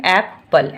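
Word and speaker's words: apple: पी एल ई पल ई का sound मैंने आपको बताया है कि लास्ट में अगर होता है तो उसको साइलेंट कर देते हैं। ये बच्चों को आप हमेशा बताइए क्योंकि वो साइलेंट में ही ज्यादातर स्पेलिंग में साइलेंट में ही जाता है। तो लास्ट वाले को हम देखिए सिर्फ लिखते हैं लेकिन साउंड एप्पल एप्पल सिंपल है।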